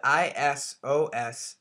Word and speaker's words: isosceles: And I spell it I-S-O-S-C-E-L-E-S, isosceles.